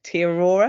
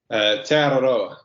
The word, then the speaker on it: Te Aroha: kilometre, I'm not going to be able to pronounce this properly now, Lewis, so you might have to correct me in a minute, Te Aurora, is that right? Te Aroha.